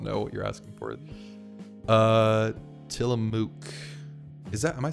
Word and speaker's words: Tillamook: The MOOC is pronounced like book. Tillamook.